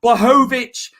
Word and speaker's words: Blachowicz: Jan Blachowicz versus Israel Adesanya. Got it right there, Chris. I pronounced it right.